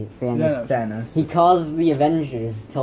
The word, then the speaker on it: Thanos: And then like a million years later, Thanos... Or Thanos, how do you say it? Thanos.